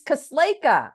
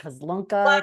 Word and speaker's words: Kosleka: It's Kosleka. Everyone's like Kozlunka, Kozlak.